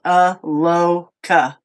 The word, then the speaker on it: Aloka: says, I just said Aloka pronunciation, and it says Aloka. Aloka. UHLOHKUH.